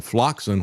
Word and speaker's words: Floxin: They gave him a floxin, which rhymes with toxin, and that was a horrific situation.